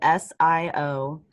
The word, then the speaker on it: Siobhan: see okay remember backwards but that's how you spell it s-i-o-b-h-a-n and it's pronounced siobhan and does does a